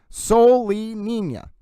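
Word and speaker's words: Solenina: Soul, like the word soul. Lee, like Bruce Lee. Nina. Soul Lee Nina.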